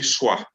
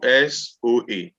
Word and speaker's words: soa: So when you want to say carry in Twi, you say swa. Swa. Please, let's say together. Swa. Swa. Swa. Swa. Yes. So SOA.